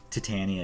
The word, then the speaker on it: Titania: Titania is how you say it in the Marvel Cinematic Universe. Actually, in the Marvel Cinematic Universe, it's Titania.